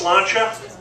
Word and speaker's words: sláinte: And there's a Gaelic saying for these moments in time that means cheers, and it's pronounced sláinte.